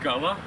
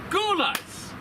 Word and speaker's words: Gulla's: So, I'm going to give this a single You know, Mia Copa, I've been saying this name wrong. It's not Gulla, it's Guls.